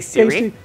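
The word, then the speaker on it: Ciri: named Siri who say Siri uh her name oh God rabbits her full name is Silla but they call her Siri it's spelled with a c and Siri has what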